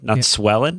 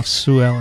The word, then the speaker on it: Sue Ellen: I think that's Sue Ellen. Sue Ellen? Swellen? No, Sue Ellen.